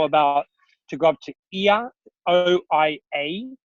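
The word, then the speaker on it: Oia: I threw a bonus excursion that people didn't know about to go up to Ia, O-I-A, it's spelt, which is the amazing shots of Santorini, which you see whenever you Google Santorini.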